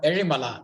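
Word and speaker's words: Ezhimala: which is there at a place known as erimala it's called erimala that's how you pronounce it it's in the canon district in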